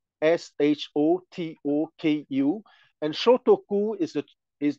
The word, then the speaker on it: Shotoku: want to name Prince shotoku s h o t o KU and shotoku is the is the the right pronunciation in Japanese and it's come from